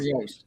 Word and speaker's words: Yost: Unless Fielding Yost, or how do you pronounce it? Is it Yost or Yost?